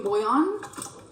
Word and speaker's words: bouillon: Look, man, I know it in French it's pronounced bouillon. Bouillon. But if you're gonna do the French pronunciation and drop the L's, you might as well drop the N too. Bouillon. Not bouillon. The English pronunciation is bouillon.